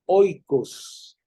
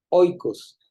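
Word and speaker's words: οἶκος: dentro de la casa la casa se llamaba oicos oicos se escribe en griego como el como El yogur griego verdad que se llama oicos ya igualito oicos Ah este era la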